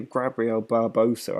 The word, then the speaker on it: Gabriel Barbosa: It's actually Gabriel Barbosa. I've been saying his name wrong the whole time.